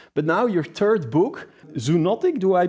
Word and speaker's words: Zoonotic: other book influencers but now your third book zuntic do I pronounce that correctly yes exactly zuntic is perfect what's it about it's it's it's